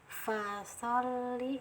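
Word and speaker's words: فَصَلِّ: Nah, fa-nya di sini ada sifat hamas, ada aliran angin yang keluar ya. Sod juga ada aliran angin yang keluar juga. Fasoli. Nah, di sini ditahan saja, ditekan. Nah, jangan terlalu lama, cukup ditekan, langsung di mengikuti harokatnya.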